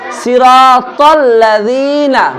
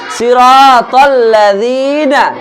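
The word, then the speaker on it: صراط الذين: এর উচ্চারণ না তাহলে সিরাতাল্লাজিনা বলো সিরাতাল্লাজিনা সিরাতাল্লাজিনা সিরাতাল্লাজিনা সিরাতাল কি হবে সিরাতাল কি হবে সিরাতাল কেউ সিরাতাল বলবে না ঠিক আছে ত এর উচ্চারণ করতে হবে সিরাতাল্লাজিনা সিরাতাল্লাজিনা আনআমতা আলাইহিম আনহামতা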